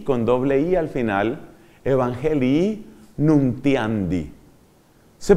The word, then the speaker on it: Evangelii Nuntiandi: Se escribe Evangelii con doble I al final, Evangelii Nuntiandi. Se pronuncia Evangelii Nuntiandi.